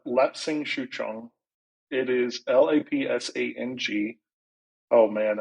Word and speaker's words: Lapsang Souchong: cannot for the life of me pronounce it. Can you say it and spell Yeah, it? yeah. It's Lapsang Souchong.